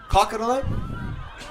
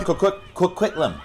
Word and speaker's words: Coquitlam: Hometown of Port Coquitlam. Let me know if I pronounce that right. Port Coquitlam.